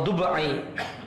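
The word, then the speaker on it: الضبعي: Ad-Dab'i atau Dub'i matmumah, dibaca dhamma, muahadah maftuhah fa muhmalah. Dub'i nisbah kepada kabilah Bani Dubi'ah, Dubai'ah, seperti bacanya Juhaina.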